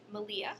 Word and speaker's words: Malia: raising podcast it's by malia who's rhymes with maria and it's an amazing